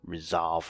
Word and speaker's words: resolve: in two perpendicular components resolve rhymes with dissolve and you take the